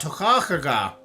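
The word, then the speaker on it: Toiteach a Dhà: That's a Scot. Tochachaga. That's how you pronounce this particular pour.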